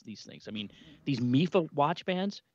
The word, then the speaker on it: Mifa: things i mean these mifo watch bands it's pronounced mifa right m-i-f-a-a sure let's go with